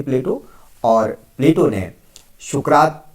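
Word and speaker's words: Πλάτων: होता है चौड़ा चपटा शब्द शुद्ध यूनानी उच्चारण प्लाटून है और अरबी में इसी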